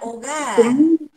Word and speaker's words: hogar: Por ejemplo, podemos comenzar con la palabra hogar. Y hogar comienza con H. H muda.